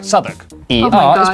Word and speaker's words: Southwark: Oh, W at the start of the final syllable is silent. Norwich, Berwick, Southwark.